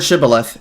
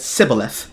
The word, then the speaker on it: Shibboleth: Point being, when they pronounced the word Shibboleth, they instead said Sibboleth, which is exactly how it's said in the Jewish tone, upon which they were slaughtered.